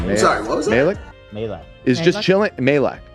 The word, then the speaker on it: Majlak: Malik? Malik? Is the J silent? I think so. Gotcha. Sorry, what was that? Malik? Malak.